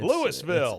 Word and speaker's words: Louisville: louville it's louville Louisville you ever heard him pronounce it people like they call louville L it didn't even sound like it's supposed to be like a few syllables they just kind of make it Lou mhm M uh and